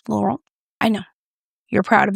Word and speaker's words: Laurent: They say in France, Laurent.